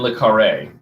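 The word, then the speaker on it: le Carré: See, I try to pronounce myself. Did I say that wrong? What is it? Admittedly, so John le Carre.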